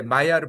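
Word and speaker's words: Maillard: 냄새도 좋아지고 그게 마이아르 반응인데 어 마이아르가이 M L드 마이알드로 보이는데 마이아르로 발음한 이유는이 사람이 프랑스 사람이에요. 프랑스 과학자인데 원래는 체내에서 발생하는 어 현상이었다고 합니다.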